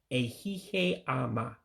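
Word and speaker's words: Ehihie ọma: You drop the second I, so you don't pronounce it. So in other words, it's ehihe ama, good afternoon.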